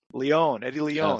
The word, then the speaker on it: Eddie Leon: Eddie Leon, yes.